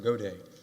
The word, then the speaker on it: Gaudette: now hear from Mr gaudette how you pronounce it close enough go day go day okay thank you that's